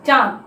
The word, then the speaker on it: চাঁদ: চন্দ্রবিন্দুটা হচ্ছে অনুনাসিক। যেমন ওই যে চাঁদ, চাঁদ বলার সময় কি আমরা লিখি কিন্তু চ আকার চন্দ্রবিন্দু দ, চাঁদ, কিন্তু আমরা উচ্চারণ করি কি? ওই যে ওর মতোই কিন্তু অনুনাসিক হিসেবে বা নাসিক বর্ণের মতোই উচ্চারণ করি।